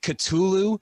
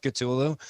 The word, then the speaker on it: Cthulhu: real real quick okay you're not supposed to be able to say it right because it's like katulu where if you could actually say the word you'd go insane because chathan's supposed to be based off cthulhu so if anyone's giving